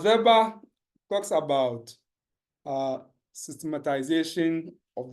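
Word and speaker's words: Weber: social interactions so uh verba you know you know I say ver I don't say we uh because we don't we pronounce the W as V is a German uh yeah so he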